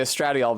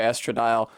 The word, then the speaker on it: estradiol: I'm going to say Estradiol because it sounds like an actual pharmaceutical, but people do say Estradile.